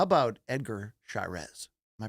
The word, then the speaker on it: Edgar Chairez: How about Edgar Chairez? Am I pronouncing that correctly? Edgar Chairez, yeah.